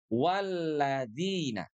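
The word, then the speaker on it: وَالَّذِينَ: Yang kedua, huruf zal di sini ya harus kita ucapkan dengan tepat. Di mana huruf zal itu makhrajnya itu berasal dari ujung lidah kita ya, bersentuhan dengan gigi seri atas.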